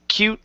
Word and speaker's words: cute: Remember this E at the end is silent. So instead of cute, it's cute little people.